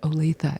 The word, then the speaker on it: Olathe: My town is pronounced Olathe. It's not whatever you said on TV the other day.